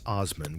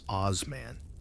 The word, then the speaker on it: Osman: That's Osman with a soft S, which you will inevitably mispronounce as Osman like a medieval rockstar.